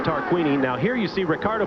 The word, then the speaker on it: Tarquini: I've been mispronouncing his name all day long. It is Tarquini.